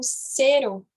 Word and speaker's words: cero: O som da letra E, ele é fechado, tá? Então, não é cero, é cero.